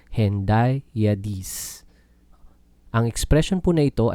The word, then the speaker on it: hendiadys: Ang Hendiyadas or Hendiyadees, mas kilala sa Hendiyadis. Ang pag-pronounce, Hendiyadees.